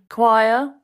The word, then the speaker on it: choir: Choir. Mm-hmm. Very good word for pronunciation practice. Choir doesn't look like it sounds.